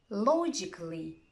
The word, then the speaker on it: logically: the letter A, but if a word ends in ICA, double L, Y, most people don't pronounce it. Here are some examples. Try to copy them after me. Automatically, basically, logically, practically, surgically, romantically.